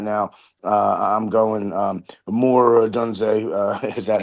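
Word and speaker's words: Odunze: I'm going Moore Adunze, is that how I pronounce his name?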